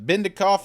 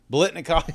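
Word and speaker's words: Biletnikoff: I was just curious because I saw Hyatt was on one for the Bendikoff. Is that how you say that? I'm sure I missed that out. Blitnikoff.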